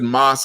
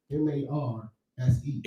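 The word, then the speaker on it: Marse: it's in the book, it's spelled M-A-R-S-E, Goodman. And it sounds like that's his first name, right? That's short for master. Mars. Yeah. That's they is not Mars. It's like Master Goodman.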